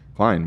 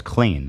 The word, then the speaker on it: Klein: Klein. We already discussed this. Clean? Klein. Clean. It also is in English. The opposite of gross in English is clean. Uh-huh. Some people mispronounce my name as clean.